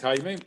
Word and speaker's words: Jaime: that thing in there i always say that this is the closest thing that you can do to my name h-y-m-i-e that that would sound